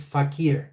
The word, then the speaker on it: fakir: And the correct pronunciation is fakir.